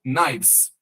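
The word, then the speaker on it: knives: C cavs kife faca você não fala o k apenas o n k plural kives Wolf Lobo Lobos wolves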